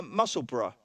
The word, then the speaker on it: Musselburgh: Pronounce Musselburgh there? No, Musselburgh. Musselburgh. Yeah, like kind of Middlesbrough.